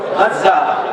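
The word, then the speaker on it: غزة: বর্তমানে যেখানে গাজ্জা অবস্থিত আপনারা গাজ্জা বলেন আরবিতে উচ্চারণ হলো গাজ্জা যেখানে গাজ্জা অবস্থিত সেখানে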